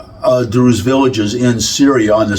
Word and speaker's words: Druze: They're called the Druze. Okay, it rhymes with Jews, but they're Arabs.